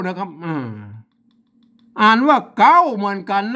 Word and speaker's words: เก๊า: นั่น แหละ อัน นี้ อ่าน ว่า เก๊า นะ ครับอ่า ไม่ ใช่ เค้า นะ ครับ อ่า อัน ตัว